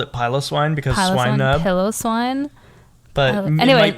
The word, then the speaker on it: Swinub: Is that how you say it? Yeah, Swinub. It's cute.